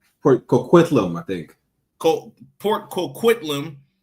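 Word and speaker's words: Port Coquitlam: family of pig farmers in Port, how you pronounce that city? Port uh Port Kquitlam, I think.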